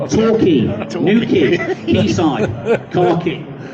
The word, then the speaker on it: Torquay: you like Queen, you can understand why people pronounce the name of the business wrong. But it's Key, Torquay, New Key, Quayside, Car Key.